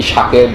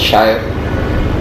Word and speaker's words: Shaher: I didn't tell them, sir, my name is not actually Shakir, this is Shaher, because they know how to process information.